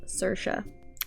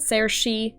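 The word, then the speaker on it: Saoirse: imbecile of a human her name is pronounced sercia sercia not sarah she or whatever the hell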